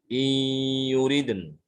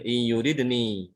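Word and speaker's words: يردن: Jadi bacanya iyuriden. Bukan iyuridni, tapi iyuriden.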